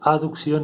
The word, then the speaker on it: aducción: de abducción a producción acá no está la letra e pero para pronunciarlo diferente se pronuncia aducción y abducción en el sentido del